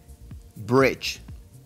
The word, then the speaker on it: bridge: Se dice bridge. Bridge. Se escucha como ch. Bridge. No bridge o nada que tenga que ver con bridge.